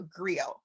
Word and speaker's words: griot: And so there was different classes of people, and there's something called a griot. And it's a French word, and you spell it Griot.